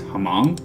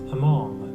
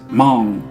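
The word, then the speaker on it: Hmong: I'm going to see, it's Hamong. Hamong. So I knew how to pronounce it. However, the title, and Fam wouldn't have known this, the title, Hamong Ladies, could get read as Mong or Hemong or something.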